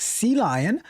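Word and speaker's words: CLion: Sea lion. Like it's the letter C and then the word lion. But there's also the the aquatic animal called a sea lion.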